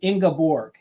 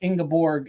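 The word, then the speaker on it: Ingeborg: to pronunciate the name it is ingaborg it's ingaborg is the the German pronunciation for it so thank you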